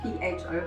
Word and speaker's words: phở: It's spelled P-H-O, by the way, but it's pronounced pho.